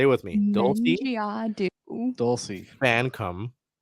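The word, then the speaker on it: Fankam: Dulcie Fancom Mengiadu. Say it with me. Dulcie Fancom, like Fan come COME, Mengiadu.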